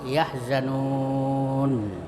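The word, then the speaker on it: يَحْزَنُونَ: Jadi ada tiga cara bacanya. Jadi kalau ada mad thob'i berada di pemberhentian atau wakaf tempat berhenti, maka itu dibaca panjang tiga macam. Pertama tiga alif ya atau enam harakat.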